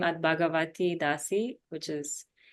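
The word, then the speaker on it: Bhagawati Dasi: And then you can get in touch with me through Instagram at, it's a bit complicated name, at Bhagavati Dasi, which is spelled BHAGAWATI.DASI.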